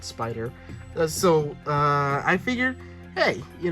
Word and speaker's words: SP//DR: It's called Spider. Now it's spelled SP//DR, but for years I didn't know how to pronounce it. I looked it up. It's just called Spider.